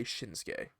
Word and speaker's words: Shinsuke: you just say like you can easily say shinsuke yeah that's two syllables shinsuke like uh like but cruz tosses